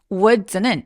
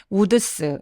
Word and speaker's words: Woods: S 붙이면 숲속이 됩니다 근데 여러분 이거 발음할 때 우스 이렇게 발음하시는 분들 많은데요 요거는는 디귿 받침 발음을 하면서 마지막에 TS 끝나는 것처럼라고 소리해 주세요 자 그럼 문장 쭉